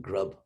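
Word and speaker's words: ग्रभ्: They pronounce it grub, G-R-A-B-H, but it actually means grab.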